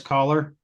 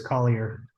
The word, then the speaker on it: Collier: with uh producer caller how what was that huh yeah his name is Collier oh you're okay to